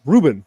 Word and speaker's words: Rubine: an artist called i i wasn't sure if it was rubine or rubine but apparently it's reuben is how it is pronounced uh r-u-b-i-n-e um i